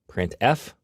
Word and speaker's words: printf: They are pronounced: printf, putchar, and puts.